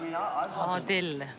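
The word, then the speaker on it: Adil: Mum, how is it pronounced? Odil.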